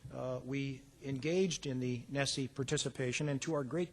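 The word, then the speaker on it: NSSE: survey of student engagement which whose acronym is pronounced Nessie the significance for Nessie to the University of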